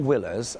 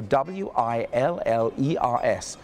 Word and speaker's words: Willers: wheelers in French so w i l l e r s for a Frenchman is for us it's Willers I just got my